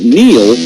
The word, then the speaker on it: Neil: It's no coincidence that Neil rhymes with deal because that's something you could